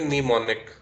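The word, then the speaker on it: mnemonic: इसमें am silent है। इसको हम पढ़ेंगे निमोनिक।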